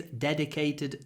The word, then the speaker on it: dedicate: useful word D Al try to do a nice soft duh as well dedicate dedicate dedicate dedicate not but dedicate okay 183 is a